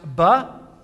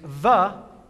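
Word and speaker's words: ב: a little more detail, it's pronounced ba if it has a dagash in it, a little dot, and it's va if it does not have that dot in the center.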